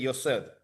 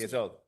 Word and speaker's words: Yesod: no pueden ser otro que no sea de Yosod, Y sí, eso. Yesod, que no me sale la pronuncio mal, Yesod, que es en línea vertical,